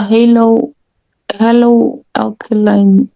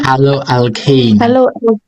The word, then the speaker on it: haloalkane: Isn't it a halo alkaline? Halo. So how do you say it? Halo alkaline. Huh? Haloalkane. Haloalkane. Yes, haloalkane.